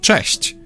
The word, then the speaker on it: Cześć: There's also a comparable softer sound. Ch. You can hear both in the word Cześć.